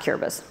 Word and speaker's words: Kiribati: Kiribati, it's spelled Kiribati, but it's pronounced Kiribati.